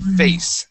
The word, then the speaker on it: face: Okay, here you had said face and pronounced that e at the very end. Okay, the word is face.